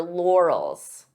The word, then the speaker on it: laurels: on your your laurels this could be a hard word to pronounce depending on your native language because we have an r and an L lore lore so divide the sounds until you're comfortable with each sound lore s and and then you can pronounce it as one Laurels Laurels the expression is